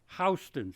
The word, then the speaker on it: Houston: And then in 1998, a further Gilda story, Houston, she insists it's pronounced as the street in New York rather than in the city, is set further in the same future.